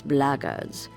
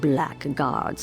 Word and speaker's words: blackguards: If you're another one of those blackards, and that's the way to pronounce it, not black guards like that thug insisted it was, then my answer is the same.